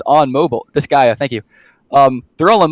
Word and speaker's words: Disgaea: The Disgaea, that's how you pronounce it. Disgaea 1, it's on mobile. Disgaea, thank you.